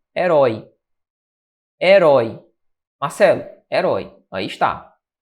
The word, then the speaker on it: herói: Veja, onde é que está a sílaba tônica de herói? Se você analisar comigo, a sílaba tônica está aqui, ó. Herói. Nota aqui, então, que isso aqui é uma oxítona.